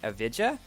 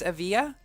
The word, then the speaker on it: Evija: the Grand Prix video a lot of people got upset because I pronounced it a Vidya so I think it's a via and hello to everybody